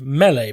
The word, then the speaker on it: melee: And I've decided to pronounce it melee, because I think that's correct.